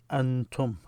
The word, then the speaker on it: أنتم: So when you write them together and you pronounce it, Antum.